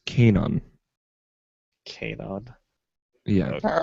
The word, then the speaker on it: Kanon: This robot voice is telling me it's pronounced Kanon. Kanon.